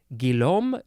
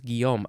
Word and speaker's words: Guillaume: that first name is g-u-i-l-l-a-u-m-e Guillaume gilom but they might not say the Els Guillaume I don't know duchenne